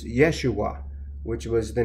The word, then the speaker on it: Yeshua: Christ matter of fact if you pronounce his name in Hebrew is Yeshua which was the name